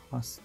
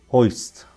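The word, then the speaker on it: hoist: خب تلفظ دقیقش بگم، هاست نبود، هویست کنم تلفظ دقیقش باشه، هاست نه، هویست بود.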